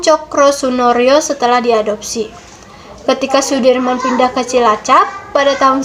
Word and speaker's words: Soedirman: Indonesia Hai Jenderal Sudirman menurut ejaan soewandi dibaca Sudirman Ia merupakan salah satu